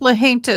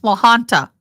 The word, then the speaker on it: La Junta: not Camp La Junta, it's Camp La Junta. Camp La Junta is how they say it.